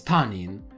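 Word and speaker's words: 他人: So other person is tanin, but other can also be pronounced hoka.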